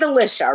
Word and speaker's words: Alicia: Madison's 12:30 with between Sue Ellen and she pronounces it Alicia. So this is now the third different pronunciation of her name, but I'm gonna trust her because it's her own name. It's her. She says Alicia, right?